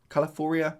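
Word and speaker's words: Calafiori: he came in a bit late calfor caloria Califoria is how you pronounce his name but regardless 98 very very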